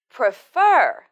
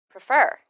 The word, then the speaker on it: prefer: practice ice with prefer she said this word without stress but she should say fur louder than PR fur prefer prefer right one more thing